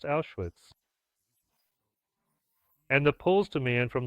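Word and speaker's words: Auschwitz: There is the Polish name Austrians which in German is pronounced Awitz and the Poles demand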